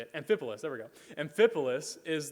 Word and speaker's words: Amphipolis: Amphipolis, there we go.